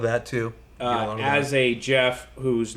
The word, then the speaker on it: Geoff: call you extreme even more people call you g off i get a lot of that too uh as a jeff whose name is spelled g off are you okay with the